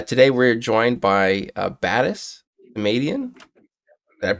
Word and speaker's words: Batis Samadian: nice round number uh today we're joined by uh batis comedian that pronounce that right I feel like I did